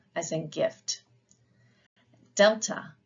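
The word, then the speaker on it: δέλτα: Delta, D, as in dog.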